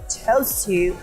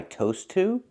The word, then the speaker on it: chose: I ordered soda because that's what I toast to? Toast to? I think she means chose to. Making the ch sound like chicken. Chose to. Not toast to.